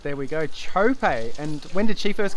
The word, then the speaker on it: Txope: mar oaks on saturday i'm not going to pronounce her but can you help us out with that firstly john chope all right there we go chope and when did she first come on your